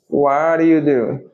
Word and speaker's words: what do you do: A gente corta aqui, ó. Corta o D. E esse T ele ganha um som de R. Aqui. What do you do?